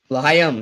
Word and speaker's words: L'chaim: L'chaim. L'chaim.